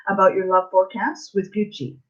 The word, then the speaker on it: Gucci: I am pronouncing it properly, right? The designer's name. Yeah, Gucci.